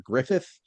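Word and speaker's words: Gruffydd: Can we confirm that his name is Mr. Griffith, despite the fact that it's G R U FY D, right?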